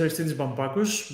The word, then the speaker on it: Aristeidis Bampakos: fingers crossed okay so my name is aristides vampakus but you can call me if you want because if you are not a native greek speaker it's harder to pronounce and i live in